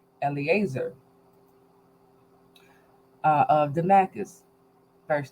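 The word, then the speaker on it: Eliezer: my estate is let me get his correct pronunciation Eleazar uh of Damascus verse 3 and Abram said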